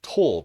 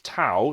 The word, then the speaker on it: tau: And I've heard this letter pronounced as tor before, which is awful. It's tau. It's the Greek letter tau.